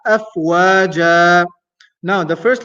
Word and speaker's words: أفواجا: But since we're stopping there, we pronounce it as afwaja.